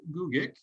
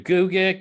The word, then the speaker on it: Gugick: And today we are here with David Gugick. And I know you said you can pronounce it two different ways, right? You can do Gugick, you can do Gugick,